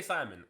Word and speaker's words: Simon: So basically the story is this kid, Simone, which it's Simon. And why is the English dub saying Simone?